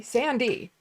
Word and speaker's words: Sandee: My name is spelled Sandee. There's also Sandy and Sandie. They all say Sandy.